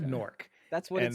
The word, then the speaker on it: Newark: Newark, That's what And- it's pronounced like. and I still don't understand that. It's Nork. It's Newark. Is that English?